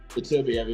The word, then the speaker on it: Beterbiev: I had Beterbiev, whatever I don't know how to pronounce it nowadays. Beterbiev, yeah.